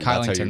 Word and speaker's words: Kylington: Killington, killing Kylington. Kylington. There we go. That's how it's pronounced.